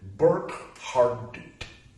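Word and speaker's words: Burckhardt: complexes following Jacob Burkhart that's uh b-u-r-c-h-h-a-r-d-t burp hard dude I think is the correct pronunciation of that uh he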